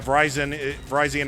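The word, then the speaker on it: Virizion: Yeah, Verizon is seriously how you pronounce it.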